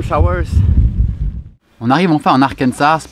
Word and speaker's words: Arkansas: on arrive enfin en arkensas prononcer arkans en anglais où Bill Clinton et